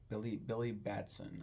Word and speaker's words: Billy Batson: Um, Billy Batson, I believe is how you pronounce his name.